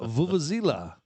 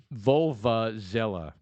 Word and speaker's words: vuvuzela: It's the Vuvuzela. Wikipedia It's pronounces it. Vulva-zella.